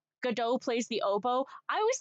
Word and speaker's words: Godot: Yeah, that's how you pronounce Godot. Like Gal Gadot. Kal-El, no! Kal-El, no! You thought it was Godot? Yeah, no, it's Godot.